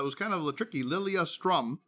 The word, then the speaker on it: Lilyestrom: kind of the tricky lilia strum i think you said right yeah how do you spell that for the people the website part of it oh yeah great um l-i-l-y e-s-t-r-o-m okay and we love it because lilia strom has the word yes in it oh okay that's wonderful